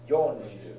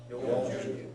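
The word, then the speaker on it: よんじゅう: Yonju. Yes, 40. Yonju. Very important that you get your yo and your ya separated.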